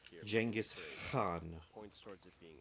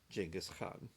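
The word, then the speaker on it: Genghis Khan: Actually, in original Mongolian, I believe it's Jenis Khan like kind of a instead of like a hard K.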